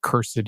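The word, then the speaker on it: cursed4: can install cursed 4 or I prefer to pronounce it curse it it makes seems more appropriate but just curse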